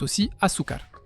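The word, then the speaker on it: azúcar: D'ailleurs, en portugais, c'est Asukar et en espagnol, c'est aussiar. Sauf qu'en espagnol, il y a un Z et le Z se prononce comme un S.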